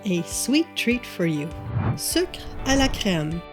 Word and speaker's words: Sucre à la crème: Sucre à la crème, or like I grew up pronouncing it, sucre à crème.